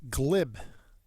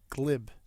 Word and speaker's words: glib: Next we have is pronounced glib. Glib. It's not a long I, it's a short I.